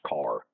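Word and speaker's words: Kerr: a state park car it's uh k-e-r-r but it's pronounced car okay car lake and it is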